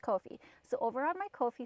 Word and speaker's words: Ko-fi: So I searched it up at like 1 o'clock in the morning, and they said it rhymes with no fee, Ko-fi. So, pardon me, oh my goodness. So it is pronounced Ko-fi.